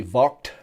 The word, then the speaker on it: Vogt: was done by a peter vaught vogt i think in german it's actually vault uh but this was